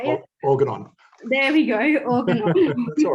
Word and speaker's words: Organon: So as you mentioned before, well, I mentioned before, you currently work at Oregon. I think that's how you say it. Organon. There we go, Organon.